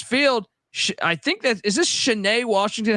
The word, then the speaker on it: Cheney: I think is this Cheney, Washington. How do I pronounce this? Cheney.